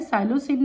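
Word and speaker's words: psilocybin: ये P silent है। साइलोसिन है।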